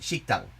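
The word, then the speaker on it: 식당: Like, shokudo exists in Korean, it's pronounced shiktang.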